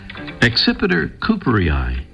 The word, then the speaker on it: Accipiter cooperii: Accipiter cooperii seems to be the most widely accepted pronunciation of the scientific name of today's featured feathered friend, the Cooper's hawk.